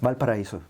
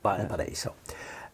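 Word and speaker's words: Valparaíso: How do you pronounce it? Valparaiso? Valparaiso. Valparaiso.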